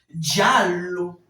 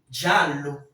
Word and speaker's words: giallo: Giallo. Giallo. Donc, c'est ce que je voulais que vous remarquiez. Parce que lorsqu'il y a une double consonne dans un mot, la prononciation est toujours étirée.